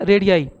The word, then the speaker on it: radii: जा रहा है तो रेडियाई का यूज किया जाता है, यानी प्लूरल में रेडियस को क्या बोलते हैं, रेडियाई। स्पेलिंग क्या होगी, RADII।